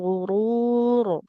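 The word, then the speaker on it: الغرور: Kemudian hati-hati di ketebalan huruf rnya mataul gurur. Karena rnya sukun jadi sukun ya. Karena dia waqaf. Harakat terdekatnya adalah dommah maka dibacanya tebal seperti itu.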